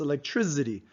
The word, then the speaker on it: electricity: accent that are unique for example the way I pronounce electricity I think it's almost like onomatopoeia the way I pronounce it and I like to stick with that even though I do realize that it's spelled with the C not Z I pronounce it as if it's zapping you so homogeneous mixtures on